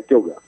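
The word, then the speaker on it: Ceugant: Que se escreve como, hein? Bom, mantendo a grafia também, né, do século XIX, C de casa, E, U, G de gato, A, N de Nair, T de tatu. Isso. Pronuncia Kelgan.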